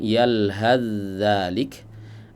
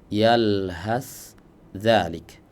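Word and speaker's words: يلهث ذلك: Nah, di sini terdapat dua cara baca sebenarnya, ya. Ada yang membacanya dengan idgham yalhaz zalik, ada yang membacanya dengan idhar yalhas zalik. Dan dua-duanya sama-sama riwayat Al-Imam Hafs.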